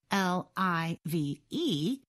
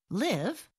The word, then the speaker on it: live: different pronunciations and meanings l i v e is pronounced live when the word is used as a verb and live when it is used as an adjective or adverb the program said there